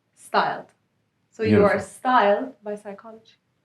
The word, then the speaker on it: pstyled: the idea is that it stems from the word psychology so the p is silent so it's styled so your style by